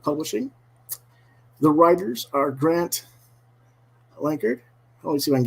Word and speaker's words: Lankard: Did I pronounce that correctly? Lankard?